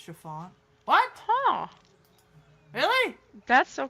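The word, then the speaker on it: Siobhan: Her name was Samoan and she used a double or nothing guys whether they could pronounce her name is pronounced Chiffon.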